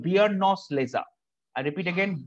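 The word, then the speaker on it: Beerenauslese: It's called Biernose Lese. I repeat again, Biernose Lese.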